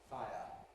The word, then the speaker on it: fire: say just two syllables fire. If you want to make it one syllable, which we can, then you have to smooth it f because it's too much to get f all into one syllable.